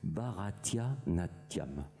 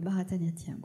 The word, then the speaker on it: Bharatanatyam: Alors, j'essaie de le prononcer correctement, parce que je l'ai écrit Bharatanatyam. Oui, le Bharatanatyam.